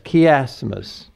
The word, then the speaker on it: chiasmus: a chiastic text, a chiasmus, which of course is spelled C-H-I-A-M, A-S-M-U-S, chiasmus.